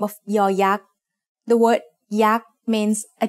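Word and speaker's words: ย: As the initial sound of a syllable, it makes the sound y, just like the letter y in yes. As the final sound of a syllable, it adds the sound e that blends with the vowel, just like the y at the end of the words say and boy.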